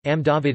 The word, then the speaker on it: Amdavad: Ahmedabad also pronounced as Amdavad in Gujarati is the largest city